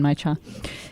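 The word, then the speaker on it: genmaicha: it correctly but one of my favorites is getting my cha uh-huh is that how you say it yeah again my Chung yeah very good with the little roasted pieces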